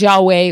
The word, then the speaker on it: Yahweh: Y HW what we say is Yahweh, which is translated Lord